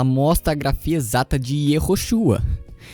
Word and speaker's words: Yehoshua: O hebraico antigo da época de Josué e o hebraico dos manuscritos do Mar Morto atestam a pronúncia Yoshua.